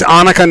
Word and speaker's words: Annika: And it's Annika Knight.